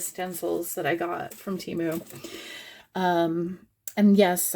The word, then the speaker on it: Temu: that I got from teu um and yes I I know it's TAMU but my brain is going to assume they're pronouncing it wrong and not me um but the first